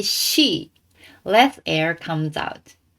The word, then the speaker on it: し: Next one is she. And you might think this is S plus I and read like C. But in Japanese it is pronounced she.